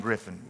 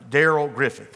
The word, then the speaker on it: Griffith: A guy named Griffin. Griffin, and it's not Ray Griffin. Griffin and Michael Jordan, two highest vertical jumpers. Daryl Griffith is his name. I said it wrong.